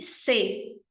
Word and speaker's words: ce: Se, cette e se. De novo, se, e aqui é o som do E francês, lábios de O, som de E, se, cette e se.